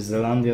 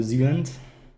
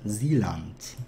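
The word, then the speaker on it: Zeeland: Nie czyta się Zelandia, tylko Zealand. Dokładnie to jest Zealand. No dobra.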